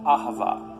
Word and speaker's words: Ahava: languages as it is an ancient Hebrew it's pronounced Ahava it both basically refers to the kind of